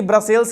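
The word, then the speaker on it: Brussels: यह head quarter है कौन ब्रसेल्स याद रखिएगा अच्छा से कुछ लोग इसको ब्रुसेल्स भी बोलते हैं तो आप स्पेलिंग ध्यान रखिएगा बच्चों 80 पर फ्रेंच यहां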